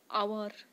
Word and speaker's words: hour: Answer হবে কি, যেমন অনেস্ট, HONEST, ঠিক আছে, HONEST, অনেস্ট, আওয়ার, HOUR, যদিও এগুলো এইচ দিয়ে শুরু হচ্ছে, এর সাইলেন্ট থাকে উচ্চারণের সময়।